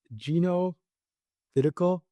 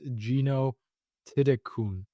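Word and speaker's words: Jeeno Thitikul: So, I mean, her name, it's Gino Tidikul, but if you actually look at how it's pronounced, I believe it's Gino Tidikun.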